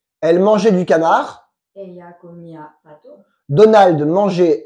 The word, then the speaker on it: comía: Comia, comias, comia, comiamos, comiais, comian. Très bien, avec l'accentuation sur la i.